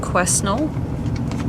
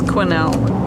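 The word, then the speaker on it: Quesnel: little town of Quinnell it's not pronounced question could be it's Quinnell okay back to the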